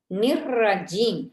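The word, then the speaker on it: الرجيم: இந்த இடத்துல பில்லாஹி, இந்த இடத்தில் நிர்ரஜீம், நிர்ரஜீம், நிர்ரஜீம் வந்து வல்லினமாக உச்சரிக்கப்பட வேண்டும். இந்த இடத்தில் நூன் வந்து கஸ்ர பெற்று வருகின்றது. எனவே நிர்ரஜீம்.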